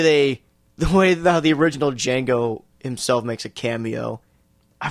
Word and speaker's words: Django: the way the original Django himself makes a cameo I forgot that Franco Nero it's fantastic I love it the D is silent after all it is